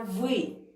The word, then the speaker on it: вы: Итак, как вы уже заметили, что мои верхние зубы касались нижней губы и губы в улыбке.